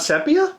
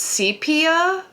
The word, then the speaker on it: sepia: It's not sepia. Apparently it's sepia. Oh, is it? Yeah, like C3PO. It sounds like CP.